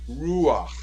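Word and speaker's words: רוח: Baruch atah Adonai Eloheinu ruach ha'olam. Ruach. And it's two syllables, just like melech.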